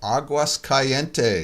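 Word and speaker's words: Aguascalientes: is with us from Mexico, Aguas Calientes. Is that how you pronounce that?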